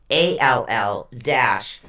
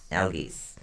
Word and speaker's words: Algiz: It's actually spelled ELHAZ, but it is pronounced ALL-GEEZE. Algiz.